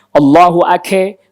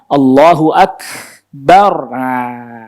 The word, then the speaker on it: Allahu Akbar: Kalau dibelokin atau digoyangin pasti kedengaran jadi ake. Itu. Allah, karena dia nggak tahan, dia lepasin lagi, jadi kedengarannya kayak mantur dan kedengaran Allahu ake, gitu jadinya kedengaran ditahan Allahu akbar.